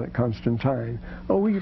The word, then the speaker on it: Constantine: He said Constantine because it's I-N-E. You pronounce it like English. And the English call it Constantine.